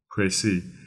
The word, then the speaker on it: précis: pronounced PR is because the E actually has an e acute symbol from French because it is originally a French word a pry means a